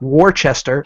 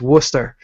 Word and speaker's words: Worcester: spell it it's because it's not spelled the way it's said it is w r CE s ER that's not Worchester it is not war sester it's Worcester as in like w s a